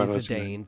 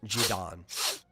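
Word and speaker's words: Zidane: So in uh English they do say Sedane. That is the the commonly accepted one. Um the Japanese name is Jidon, right?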